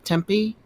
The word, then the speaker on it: Tepe: And what about Gobekli Tempe? Tepe.